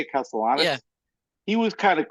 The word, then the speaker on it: Castellanos: Is that how you say it, Castellanos?